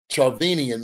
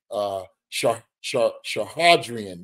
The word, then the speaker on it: Chukhadzhian: But again, a test to Charvenian, man. His name is so dang hard to pronounce. Chukhadzhian, that's it.